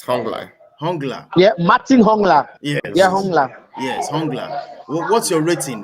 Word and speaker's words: Hongla: we go to this guy called um okay hungler did i pronounce it bro yes hang on hungler yeah martin hongla yes yes what's your rating what's your take